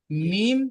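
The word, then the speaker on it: ميم: হইতে যেমন মিম মিম মিম উচ্চারিত হয় দুই ঠোঁটের ভিজে অংশ হতে যেমন মিম এবারে মিমের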